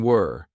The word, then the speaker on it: we're: Notice the contraction were. This is we are as a contraction were. Now notice how unstressed my pronunciation is? It sounds like we're not were.